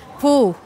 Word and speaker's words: Poo: How do you pronounce that? Poo. P-O. Yeah, yes. P-O-O.